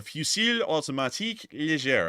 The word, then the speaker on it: Fusil Automatique Léger: Also, interesting enough, this is showing us that it's Brazilian volunteers because they have the FAL, or the Fusil Automatique Léger, I believe is how it's pronounced in French.